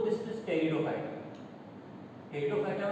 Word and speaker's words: Pteridophyta: टेरिडोफाइटा में T silent होता है, टेरिडो।